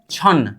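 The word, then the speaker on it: 천: अगर किसी अक्षर के नीचे न और म आ गया तो न का उच्चारण नहीं होगा। म का उच्चारण म ही होगा। लेकिन समझने वाली बात है इन लोगों में से कोई भी साइड वाले चीज पर नहीं जुड़ा हुआ हो। इसका उच्चारण अब होनी चाहिए। छन क्या होगा? छन होगा।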